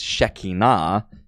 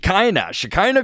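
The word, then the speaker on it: Shekhinah: know uh they they certainly mispronounce the word you know they they call it uh they the Hebrew word is Shina Shina but you know Christians will be saying Shak shakina Glory the shakina glory this is the word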